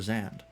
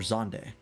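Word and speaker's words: Zande: Amon to resurrect Emperor Zand. Or Zonde, that's how it's pronounced.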